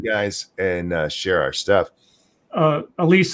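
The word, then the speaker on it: Elyse: Is that Elise?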